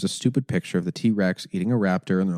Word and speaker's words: TRX: this point Ram had the rebel the ram TRX and I know that everyone's like it's pronounced T-Rex no actually it's pronounced T-Rex oh I'm so stupid I didn't know that yeah it's pronounced T-Rex it is I don't like this donut no